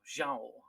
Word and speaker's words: João: Oh, João Gilberto. João. Because Ja. Portuguese has like like they have this vowel through the. It's kind of a nasal vowel, and we don't have it in our in our language.